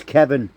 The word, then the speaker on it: Kevan: you when no it's it's Kevin whether it's spelled with an i or spelled with an A but mine is actually